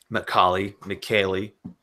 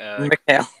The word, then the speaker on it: Mikhail: But yeah, speaking of which, let's get to you, Macaulay. Okay. Mikhail. Mikhail, that's how it's. Yeah, whatever. that's how it's pronounced. Mikhail. It's like Miguel, but smoother.